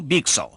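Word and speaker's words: byxor: मैं आपके लिए सही प्रोनाउंस कर रहा हूं, बीक सॉ।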